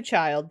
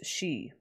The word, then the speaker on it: Chi: is to adopt a child the other is to be friends with General Chi General shei that's how you pronounce it I'm trying to pronounce it correctly it's not Chi it's shei let's see well what's